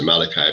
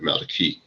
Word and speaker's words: Malachi: Book of Malachi uh most people pronounce it pronounce Malachi but Maliki which means my messenger so I come from